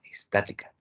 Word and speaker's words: estática: Estática, estática. Mi acento en la A, estática.